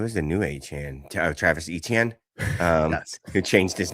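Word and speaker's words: Étienne: I mean, technically speaking, as a French, if you pronounce it truly French, and French is usually pronounced quickly, Etienne. Like Etienne.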